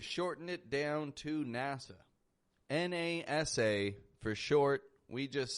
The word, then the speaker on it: NASA: And I'm here to tell you, my friend, we use a wide A, the ah, instead.